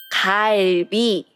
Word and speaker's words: 갈비: In Korean, it's 갈비. And you can see the first syllable, it's 그, 아, 을 sound. Put them all together, it sounds 갈.